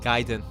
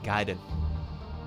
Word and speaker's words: Gaiden: Um, Giden. That's how you pronounce it, by the way. Giden. Garden in Japanese is pronounced Gaiden.